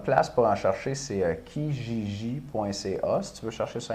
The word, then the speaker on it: Kijiji: Là, je pense que ça tourne autour de 100 Puis tu peux même, là, une bonne place pour en chercher, c'est kijiji.ca, si tu veux chercher sur Internet.